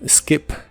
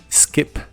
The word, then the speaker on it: skip: o una comida y se pronuncia con la i corta skip skip el auxiliar wouldn't junto